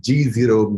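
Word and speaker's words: GZERO: And he's the president of Eurasia Group and also an organization which I have just learned from him to pronounce correctly, G0 Media.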